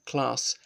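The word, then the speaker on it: Klass: Roman law systems sa Class V Germany not sure so sorry for sounding northern English class but I think that's how it's pronounced as it's a German surname okay let's look at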